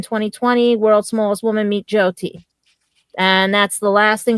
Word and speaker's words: Jyoti: If anybody wants to put the punctuation in this, Jyoti. Jayati? No, Jyoti.